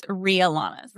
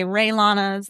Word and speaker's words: Rialanas: Yes, you had it right. It's Rialanas. Yes. A lot of people say Raylanas. Yeah. A lot of people call me Ria. I'm not Ria. There is a Rialanas. Rialana Reiner is the founder of Rialanas. So she is a real person. We get that question all the time. But yes, the correct pronunciation is Rialanas.